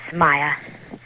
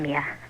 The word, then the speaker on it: Mia: same way it's called it's Maya but I'm Mia okay okay first of